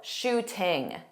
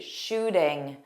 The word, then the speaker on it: shooting: Tom Holland is British, so he pronounced that T in the middle, shooting. That is not something that American speakers do. We use a flap T, so it sounds like a soft D, shooting, shooting.